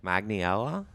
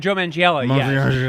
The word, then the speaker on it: Manganiello: Magniella? Oh, Joe Manganiello.